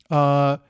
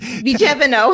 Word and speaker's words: Vigevano: So let's head out of Bergamo and let's head to Vigevano. Yes. No, Vigevano. Vigevano. I emphasize every syllable except the second one.